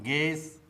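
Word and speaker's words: guess: तो दोस्तों, आपको भी साइलेंट लेटर यू से बने शब्दों का इसी प्रकार से प्रोनाउंसिएशन करना चाहिए।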